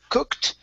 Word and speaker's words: cooked: going to be um cooked okay so instead of saying cook it so adding that e sound let's take that out so uh cooked over